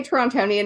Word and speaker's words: Torontonian: I think when you say Torontonian, it's the only time that uh someone from here will pronounce the second T. Uh, otherwise, if you want to seem like you're local and blend in with everyone, just call it Toronto.